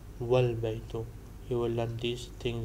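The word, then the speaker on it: والبيت: So wa al baytu is pronounced wal baytu.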